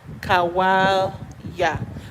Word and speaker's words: Kawalya: So the correct pronunciation is Kawalya.